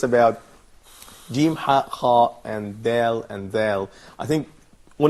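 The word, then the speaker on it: دال: And as you see, this consonant is pronounced like a frontal in English, like in dentist. This probably could be very close to the D letter in English language. This letter Da doesn't connect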